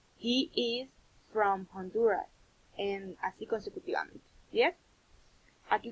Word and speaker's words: Honduras: nativo, de habla inglesa, si usted le dice Honduras, posiblemente no entienda. So, we need to pronounce in the correct way. So, repeat after me. Honduras.